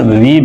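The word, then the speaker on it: read: এক্ষেত্রে কোন কিছু পড়ে শোনানো বা ঘোষণা করার অর্থে কি আছে এখানে রিড আছে রিড রেড পাস্ট টেন্সে যেহেতু আমরা রেড ব্যবহার করব অর্থাৎ স্পেলিং সেম জাস্ট উচ্চারণ বিনত আসবে রেড কি বলছে অফ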